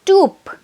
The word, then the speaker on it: twp: The next word is tube. TWP, pronounced as toop, okay, and its meaning is stupid or foolish.